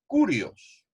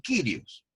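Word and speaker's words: κύριος: en el griego es curioso curioso cuando uno pronuncia en el griego se produce como sirios sirios por eso que ustedes van a encontrar como curios o como kyrios dependiendo de la pronunciación significa señor y este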